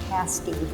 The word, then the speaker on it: pasty: Pasties are pronounced pasty, like past day meal.